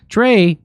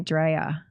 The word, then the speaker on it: Drea: Now, Drea, your name is spelled Drea. But it's short for Andrea, but everybody calls me Dre. Oh, everybody just calls you Dre. When people don't really know me, they call me Drea.